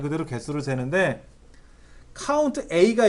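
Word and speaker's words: COUNTA: 개수를 말 그대로 개수를 세는데, 카운트 A가 있고 밑에 카운트라고 읽지 마세요. 카운트 all의 줄임말입니다.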